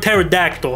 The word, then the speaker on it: pterodactyl: word pterodactyl huh well there's a silent p what other word in the english language has a silent p bro it makes no sense we just take out the p pterodactyl with the t anyways rant over the